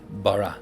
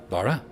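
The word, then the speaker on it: ברא: You have to put a default A. That's why we would say in modern Hebrew, Bara, and in ancient Hebrew, Bara, because you put a default A in there.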